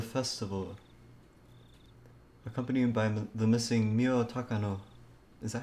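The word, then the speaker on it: Miyo Takano: day of the festival accompanied by the missing mio takano is that how you say it yes was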